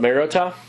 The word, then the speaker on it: Mariota: But Mariota, on the right track. Yeah, that hard T, Mariota. Yeah, so that's how it's pronounced.